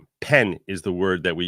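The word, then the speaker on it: פן: shma the second paragraph shma so it says pen is the word that we use like the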